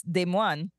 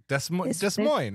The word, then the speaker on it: Des Moines: But then, you know, I mean, look at what they how they pronounce Des Moines. Des Moines? Des Moines? Des Moines.